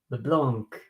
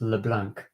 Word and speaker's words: Leblanc: But in fact, in English, you pronounce LeBlanc because you pronounce the C.